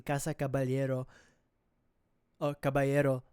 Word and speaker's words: Caballero: So I've been mispronouncing kasa cababelero or cababayero a few times. It's Cababalero.